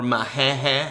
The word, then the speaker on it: Machete: And that guy, you know, that ugly guy from Machete or Mahehe, as they pronounce it.